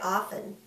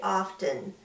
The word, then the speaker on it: often: slow endlessly often now we don't usually pronounce the T in often but I do for English Learners so you can spell it correctly it's usually silent we usually say often but a lot of